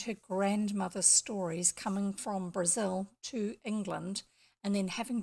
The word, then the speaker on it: Angela Brazil: books apart it's pronounced Brazil even though it's written in Brazil if you look up any information about her it makes a point of emphasizing that it's frazzle not Brazil even though her great